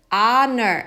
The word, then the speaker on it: honor: unusual, tradition, choose, goddess, honor, H 발음이 안 나요. H가 안 나요. H 발음이. 그래서 H는 안 해서 honor 여기만 이렇게 발음합니다.